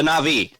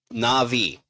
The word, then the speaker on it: Na'vi: would obl obliterate the blue freaks from Avatar na'vi basically the na'vi n a v na apostrophe VI that's how the that's how they're pronounced okay na'vi how to obliterate the blue freaks from Avatar